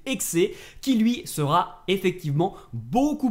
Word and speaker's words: Hexe: Assassin's Creed x enfin il faut prononcer ex qui lui sera effectivement